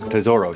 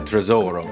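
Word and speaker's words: tesoro: is lorraine bronco who three times she mispronounced tezoro she said tresor yeah which is literally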